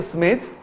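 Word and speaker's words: Schmidt: स्मिथ is written as SCH MIDT, ठीक है. लेकिन इसको प्रोनाउंस करते हैं स्मिथ, बट लिखा रहता है DT.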